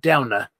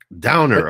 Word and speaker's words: Dovner: Well, it says here on the profile, it's pronounced Downer. Downer, okay. It looks like Governor, but it's Downer.